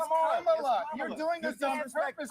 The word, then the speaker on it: Kamala: Let me So pronounce her name right. Kamala Harris. If Kamala. You said I will say Nancy. It's Kamala.